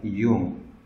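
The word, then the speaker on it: Jung: sebelah kiri kita kalau Gustav Yum bacanya begitu ya Hyung dia orang Swiss berbahasa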